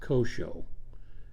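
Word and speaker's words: CSHO: The OSHA Compliance, Safety, and Health Officer, that's sometimes pronounced COSHO, may or may not have reason to be on the company premises.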